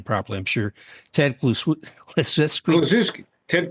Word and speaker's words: Kluszewski: I'm sure Ted Kluszewski. Ted Kluszewski.